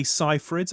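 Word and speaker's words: Seyfried: I'm going to say Cyrid only because I heard her say on the radio the other day that that's actually how you pronounce it.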